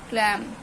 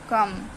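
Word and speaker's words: calm: एल के talk वक क्लम बलम तो सॉरी तो इसको बोलेंगे टॉक वक कम बम ठीक है हम एल नहीं बोलेंगे बलम नहीं बोलेंगे कलाम नहीं बोलेंगे हम बोलेंगे काम बाम ठीक है तो हमारा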